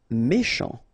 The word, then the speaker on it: méchant: Méchant. Final T not pronounced. C-H together, sh. Méchant.